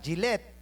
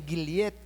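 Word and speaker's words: Gillette: tawag sa amin ay ang pag-pronounce ay Ah gillet sa totoo lang pero sa amin gilyet.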